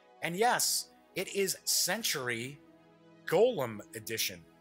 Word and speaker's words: Golem: And yes, it is Century Golem Edition. I always thought it's pronounced Gollum, but if I say that, then everybody starts thinking Lord of the Rings. So I think I'll stick to just Golem.